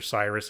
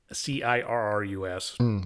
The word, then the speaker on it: Cirrus: The Cyrus, I don't know if it's Cirrus or Cyrus, it's Cirrus.